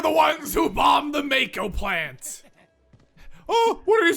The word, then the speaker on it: Mako: him ah yes yeah it's pronounced ma KO in this game but I keep thinking Mako I mean then I